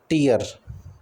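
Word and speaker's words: tear: इसके बाद टीयर, crying, टीयर मतलब होता है क्राइंग एक, दूसरा इसको हम टीर बोलते हैं, और दूसरा होता है टीयर, rib pronounced टेयर, this is a homograph, same spelling different meaning, ठीक है।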